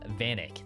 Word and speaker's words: Vanek: It's pronounced Vanek. Thank you. Vanek. Like Thomas Vanek from the Buffalo Sabres, like in 2010.